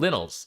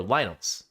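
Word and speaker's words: Lynels: well uh so the the enemies are called linals or lionels it depends on how you want to pronounce it which is very close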